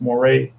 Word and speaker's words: Moret: in a roger moray i think you pronounce his name or moret in english is probably moret than french it's moray and and also kenny